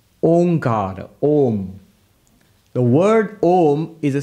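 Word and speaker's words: ओम्: that's not correct because by the rules of sanskrit grammar when you bring a and u together it becomes o so om is the correct pronunciation pronounced together becomes om now what the upanishad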